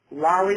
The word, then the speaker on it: Lolli: Lolli, like lollipop.